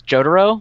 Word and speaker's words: Jotaro: because I pronounce it Jotaro also apparently the way you're supposed to say it is Jo duro like Totoro like my neighbor totoro and I will never